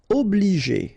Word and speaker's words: obliger: Obliger. Okay, remember when you get G and after that the vowel E, then you pronounce it J.